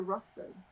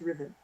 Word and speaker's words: Ruthven: And seeing that there was a Ruthven or a Riven, because Chelsea Quinn Yarborough has corrected my pronunciation on that. If it's British, it's Riven.